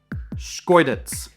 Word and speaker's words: Schkeuditz: I tried to pronounce it a ton. It's very fun to say. Say it with me now. Schkeuditz.